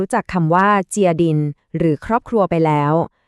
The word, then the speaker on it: gia đình: คำ ว่า ออก เสียง ตาม ครู นะ คะ ยาดิ่ง อีก ครั้ง นะ คะ ยอด เยี่ยม ค่ะ คำ